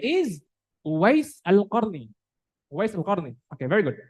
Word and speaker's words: Uwais al-Qarni: The name is Uwais al-Qarni.